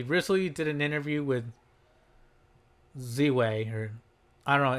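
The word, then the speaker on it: Ziwe: Anyway, furthermore, she recently did an interview with Z-Way, or I don't know, it's spelled Z-I-W-E, Z-Way. I'll pronounce it Z-Way.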